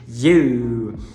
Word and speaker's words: you: Muitas pessoas gostariam de falar I-U, fazendo um I e um U, mas na verdade a pronúncia é you.